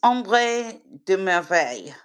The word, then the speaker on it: Ombre de: you say it it it's om de okay I'll okay I'll